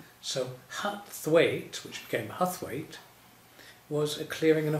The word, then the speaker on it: Huthwaite: Is that what led you to Huthwaite then? Well, yes. Huthwaite, isn't that an interesting name? People have great difficulty pronouncing it. Uthert is the way that it's pronounced in Yorkshire. Uthert.